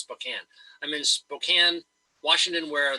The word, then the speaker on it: Spokane: right now I'm in Spokane Washington only it's pronounced Spokane wash it spelled Spokane but it's pronounced Spokane I'm in Spokane Washington where the Gonzaga Bulldogs